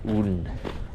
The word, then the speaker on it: Odin: the uh great god Odin or as they pronounce it here Udin I used to live